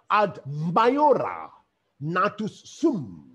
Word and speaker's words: ad maiora natus sum: And this Latin phrase is pronounced in this manner: ad maiora natus sum.